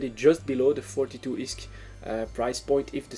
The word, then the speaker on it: ISK: It's ISK is the correct pronunciation.